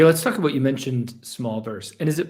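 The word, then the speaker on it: Smolverse: talk about you mentioned small verse and is it pronounced it's pronounced small verse but it's spelled it's m-o-l okay so it's not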